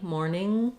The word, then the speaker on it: morning: have the or diphthong and then watch out for that ing morning that it just has an um sound at the end with the back of the tongue lifted when you can say